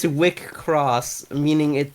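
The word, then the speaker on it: WIXOSS: like a hard game called vixels it's called wickross if you pronounce it like i just did sounds like masturbation in in german yes it's a wick cross meaning it it's it's pronounced like a cur and sometimes it's also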